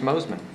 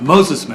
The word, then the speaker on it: Mosesman: Mosesman. Mosesman. I thought after I saw that S there, I was like, I bet that's supposed to be pronounced. Just like it reads, yes.